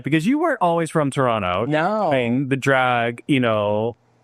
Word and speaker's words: Toronto: Don't pronounce the second T. I'm going to teach you the Canadian way to say it. Toronto.